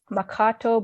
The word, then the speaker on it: Mankato: There's so many cities and places in Minnesota that the names were originally Dakota and have been anglicized. Anoka, Anunka, which means on both sides. Chaska. So sorry if I'm saying these weird, it's after learning the Dakota pronunciations, it's hard for me to go back to the English, I guess, pronunciation, the anglicized pronunciation.